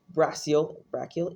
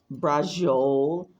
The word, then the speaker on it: braciole: Steve, who made a first full moon feast complete with brachial.